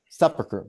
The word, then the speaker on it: Sepulchre: The various churches, the Church of the Nativity, the Church of the Sepulchre, think how that's pronounced. Sepulchre, good, yes.